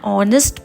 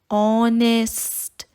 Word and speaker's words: honest: and phrases like an honest person can you hear the sound of o than the the sound of h honest now because h is silent and you can hear the sound of o we will use and